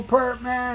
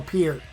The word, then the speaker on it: Peart: comments below you miss Neil Perman I do I'm sorry Neil Pier that's how you pronounce it Neil Pier um I